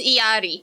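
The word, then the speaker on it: Illari: and alari or irari how do you even pronounce her name it's like there's an L there the L is silence it's iott is it where did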